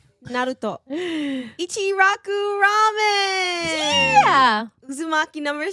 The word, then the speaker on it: Naruto: Naruto. It's actually pronounced Naruto. Naruto.